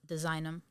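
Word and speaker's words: DSIGNM: But on Instagram, you can find me at Designum. It's spelled cleverly, too. So it's DSIGN and then M.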